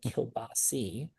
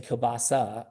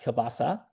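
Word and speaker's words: kielbasa: And let's like let's get to it because my grandfather would always say kilbasi and you're saying kbasa. So I say kbasa. That's what I say. Exact. And listen, I am sure that my family was not pronouncing it correctly, but is it that is it it's pronounced kbasa?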